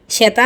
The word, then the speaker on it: শ্বেতা: সীতা নয়, শ্বেতা, গম্ভীরভাবে রাজেনবাবু বললেন। তালবস্য আর বফলা দুটোই স্পষ্ট উচ্চারণ।